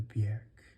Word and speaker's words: Björk: But her name does have an umlaut, and so it deserves to have the Björk vowel. It rhymes with jerk, as she said in an interview.